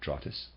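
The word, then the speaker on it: Drotts: Europe emanated from a mother Lodge in Scandinavia drus logic and that's readers aside that's spelled D R O TT s I am pronouncing that drus and of readers aside Druids equals Oak for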